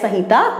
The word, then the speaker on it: संहिता: जय ऐसे एम से डिनोट करते हैं लेकिन हम इसको प्रोनाउंस संहिता करते हैं, सो दिस इज जय संहिता।